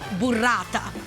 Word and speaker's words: burrata: It's pronounced burrata.